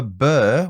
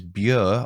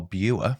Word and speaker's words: Bure: I said River Bur when the correct pronunciation is Bure or Bure, depending on your accent.